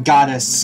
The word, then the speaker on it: Gades: I am Gades. God of Destruction. I say Gades because it's actually like God. It's not Gades. It's Gades. That's how it's pronounced in the Lufia Curse Sinistrals, which is the remake.